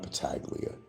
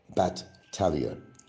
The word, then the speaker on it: Battaglia: about Battaglia, and that's how you pronounce the name. My name is not Battaglia. Battaglia. Battaglia. If you're going to use my name, at least get it straight.